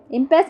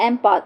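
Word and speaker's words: impasse: Okay, इम्पेस means हो गया। Also pronounced एम्पास, इसको एम्पास बोलते हैं, डेडलॉक।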